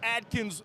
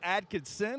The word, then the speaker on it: Adkins: And sure enough, I might have made a mistake and said Coach Adkins' name wrong on the broadcast. Hey, I was thinking I might have said Adkinson.